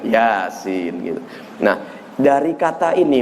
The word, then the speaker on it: Yasin: ngajinya enggak pakai bulu dia bacanya Ya asin gitu ya padahal panjang maksudnya Yasin gitu Nah dari kata